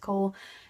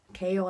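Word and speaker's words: Chaol: But those two, like I know I mispronounced Cole because I kept saying Kale, but then I watched a video and they, like, Sarah J. Maas said it was Kale, and I was like, oh, I'm embarrassed.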